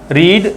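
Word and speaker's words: read: यहां पे रीड, रेड, रेड, second third form रेड पढ़ा जाएगा, स्पेलिंग वही रहेगा।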